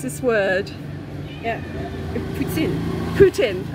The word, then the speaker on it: poutine: Poutine, as in President Putin.